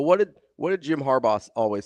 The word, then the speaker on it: Harbaugh: I say Harba. Oh no. Harbaugh. Like the gummy.